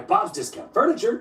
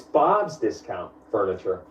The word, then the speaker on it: Bob's Discount Furniture: just furniture up its Bob's discount furniture that's what I said Bob just got furniture you're putting the emphasis on the wrong syllable it's Bob's discount furniture as in get Bob's discount on furniture oh so by that